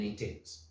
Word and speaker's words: Intens: Not intense. No, Intens. Intens. Without the E at the end.